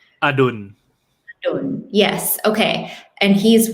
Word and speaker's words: Adul: many names, Thai names I'm thinking of, like Adul's name, right? Okay, did I say that right? You say his name. Adul.